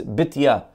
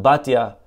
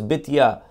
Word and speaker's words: Bitya: Okay, her accurate way to pronounce it is Bitya. That's the way it's spelled in Divrei Hayamim. Bitya. Okay, today we call it Batya, but that's not precise.